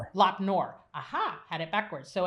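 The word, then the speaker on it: Lop Nur: And at at uh, Learn Knop, I think. I'm not good with Chinese pronunciation. Yeah. Lapnor. Lopnor.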